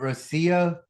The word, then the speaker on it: Rocío: How do I How do I pronounce it? Rosio. Rosia.